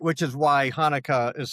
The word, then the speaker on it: Hanukkah: because it's the Hebrew word, not let's see, it is Chaf, that first letter is Chaf. So which is a that's got that sound.